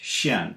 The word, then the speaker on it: 見: in a moment but jin can also be pronounced shin and mean to appear